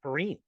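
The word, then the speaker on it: Perine: bad but you did not P Ryan it's purine no it's not it's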